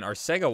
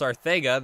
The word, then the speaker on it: Arcega: Oh my gosh, I was getting roasted for pronouncing Arcega Whiteside's name wrong, because I was saying Arcega Whiteside like the announcers, but it's pronounced Arcega.